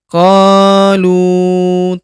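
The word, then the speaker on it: قالوا: Qalu taqasamu. Huruf ko kita panjangkan 2 harokat karena terdapat alif di depannya.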